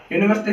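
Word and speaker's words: university: यूनिवर्सिटी का उच्चारण यू से हो रहा है, भले ये इंग्लिश का वोवल है बट हिंदी में इसका उच्चारण करते हैं तो यू हो रहा है, जो कि एक व्यंजन है, इसलिए यहाँ पर ए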